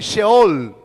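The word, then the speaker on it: Sheol: es la palabra en el hebreo que se pronuncia así se all en el hebreo de la biblia y esa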